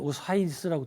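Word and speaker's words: Osiris: 이 사람은 이제 이 심장은 그 재생과 부활의 신인 오시리스, 미국 애들은 오사이리스라고 또 발음하더라고요.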